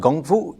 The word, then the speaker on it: Kung Fu: Kung Fu, or normally called Gung Fu, if you're trying to pronounce it more correctly, really means skill developed over time.